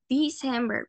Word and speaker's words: December: December. Se pronuncia con una I. December.